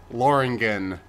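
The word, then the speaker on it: Lothringen: And yes, I know there's a TH there, but in last week's cutscenes, they kept not pronouncing the TH and tilting me out. So I guess the TH is just there to look fancy and not actually be pronounced, which...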